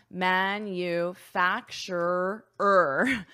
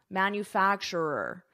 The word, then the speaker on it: manufacturer: But I could also say GM is a manufacturer. Manufacturer. That's a tricky pronunciation.